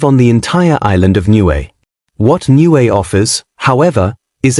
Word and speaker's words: Niue: Niue, pronounced Niue, is a raised coral island in the South Pacific, about 2,400 kilometers northeast of New Zealand.